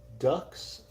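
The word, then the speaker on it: dux: us big name says second doe pronounced ducks oh interesting uh a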